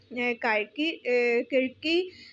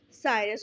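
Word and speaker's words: Circe: On his way back to his home, he met a goddess Cyrus. Sometimes it is pronounced as Kirki. So you can pronounce it is Cyrus, goddess Cyrus.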